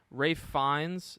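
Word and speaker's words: Ralph Fiennes: and will Tracy uh Ray fines that's how you say it's Rafe right it's Ray fines Ray fines Anya Taylor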